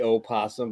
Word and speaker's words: opossum: It used to be opossum, but I think the millennials got bored and got rid of the O.